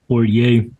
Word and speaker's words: Poitier: Is that how you pronounce it? Poitier.